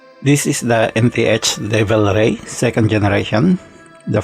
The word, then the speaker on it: NTH: from the seiko turtle first nth or ant as they want to pronounce it pronounce it is a